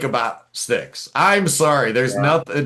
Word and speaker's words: Styx: From Styx.